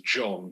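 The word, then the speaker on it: J'onn: at the very beginning whose name is John but it's spelled j apostrophe o-n-n um so John is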